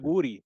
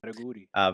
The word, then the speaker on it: Jauregui: Yasmin Jauregui, I don't even know how to say her name quite yet. Sorry, Yasmin. Yaraguri, There you go. Yaraguri.